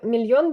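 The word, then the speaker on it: millón: міль міль а мі мільйон буде мільйон мільйон подвійна л читається як є тобто що ми далі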